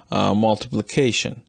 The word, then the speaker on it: multiplication: and the fourth syllables the fourth syllable seems to have a higher degree of stress the same is true